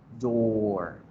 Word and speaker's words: door: Alargo la vocal. Door.